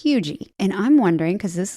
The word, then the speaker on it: Huger: It looks like Huger, but it's Hugie. And I'm wondering, because this lady's name is Eliza. It's spelled Huger. So it looks like Huger. It's probably Hugie.